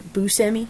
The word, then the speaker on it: Buscemi: You know, I actually looked up the pronunciation of his name. is it I'm trying to say Buscemi? Or Buscemi?